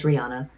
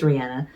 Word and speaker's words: Rihanna: Some of y'all may pronounce her name as Rihanna, but I just found out recently it's Rihanna.